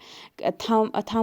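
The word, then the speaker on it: thumb: में के साइलेंट है, थम में जो है बी साइलेंट रह रहा है, थम इसको पढ़ते हैं।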